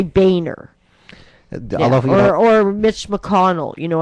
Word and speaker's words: Boehner: you know i swear his name if you phonetically spell it says boner so but he probably they just probably decide listen we don't want to be called boner so we'll say boehner or mitch mcconnell you